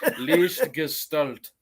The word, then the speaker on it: Lichtgestalt: Lichtgestalt is how you fucking say that.